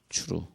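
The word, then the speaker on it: צור: 그래서 오늘 시편 18편 2절에도 하나님은 나의 반석이시여 라고 할 때에 추루라고 하는 단어, 추루, 혹은 쭈루 이렇게 발음하는데 이 단어를 쓰면서 하나님이 반석이시여, 나의 반석이시여.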